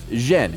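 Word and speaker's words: 甄: in the Beijing dialect his surname is pronounced Jen and yen is the Cantonese pronunciation the father of the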